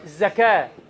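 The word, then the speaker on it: زكاة: The word zaka with tongue out is sluting to slaughter some animal and the word zaka without tongue out is to purify or to kill. So it is very minor difference in pronouncing but it has very big difference.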